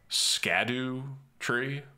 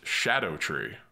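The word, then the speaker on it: Scadutree: Scadu-tree? Japan...we don't put U's after D's. We're comfortable just ending on D. Oh, it's actually based on old English and it's pronounced 'shadow tree.'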